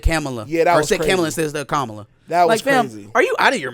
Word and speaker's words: Kamala: yeah that was hezy he said kamla instead of camela are you out of